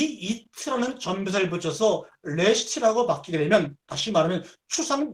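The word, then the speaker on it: ראשית: 이트라는 말을 붙이게 되면 그러니까 롯에다가 이트를 붙이면 바로 레시트라고 발음하게 되죠.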